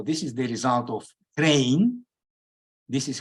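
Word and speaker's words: Krein: It is exactly now I'm showing, and so this is the result of Crane. This is how his name is pronounced, and this is a condition which is sufficient for the non-uniqueness.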